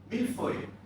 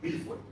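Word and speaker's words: mille-feuille: Milfoy. Pronounce it properly, please. Milfoy.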